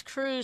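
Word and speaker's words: krewe: And that's crew spelled like a Marty GR. Marty GR crew. That's K R E W.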